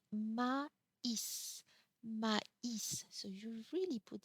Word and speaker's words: maïs: So mais with no accent means but here maïs means corn in English. So again, an accent change the pronunciation, but also the meaning of the word.